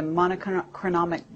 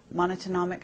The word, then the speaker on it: monatomic: Because I know that there's a whole movement in your speech where you're talking about manna from heaven, the monochronic gold, monatomic.